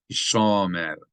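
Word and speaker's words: הִשָּׁמֶר: I'm accenting it wrong. Hishomer, Hishomer, Hishomer. There's a ta'am under the second syllable.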